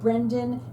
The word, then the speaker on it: Braden: My first guest is Michael Brendan, and he is the owner of BRADEN Medicare. Welcome back to the show. You have been on the show before, and I said Brendan, it's Braden.